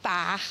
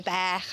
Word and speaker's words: bach: Yes, for words like 'bach' and 'tan', we say 'baech' and 'taen'.